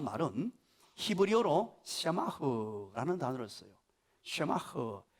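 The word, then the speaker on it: שָׂמַח: 샤마흐, 사하고 세하고 중간 발음입니다. 사쇠, 세마흐라는 히브리어를 써요.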